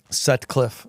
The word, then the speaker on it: Sutcliffe: it with David Sutcliff you say your last name Sutcliff Sutcliff Su Cliff you got it you said it right it's hard it's too